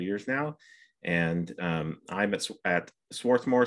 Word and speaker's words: Swarthmore: now and i'm at swarthmore swarthmore there are like four or five local pronunciations swarthmore swarthmore yeah anyway um i'm here